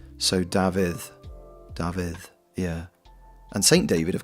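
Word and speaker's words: Dafydd: Um because a single F in Welsh is pronounced like a V.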